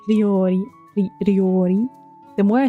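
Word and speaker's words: 料理: Ryori. This is the one that Bibu can't pronounce. Ryori. Ryori. The more I say it, the more I can't pronounce it either. Ryori. Ryori. Ri and then yo.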